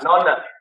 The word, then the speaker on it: Nonna: Nonna.